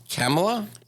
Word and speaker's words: Kamala: name wrong so please tell me how to pronounce her name it's Kamala Camelot okay so a vote for Joe Biden